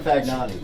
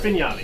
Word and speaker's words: Fagnani: So you are Fagnani, correct? Yes. Am I pronouncing the last name correct? No, Fignani.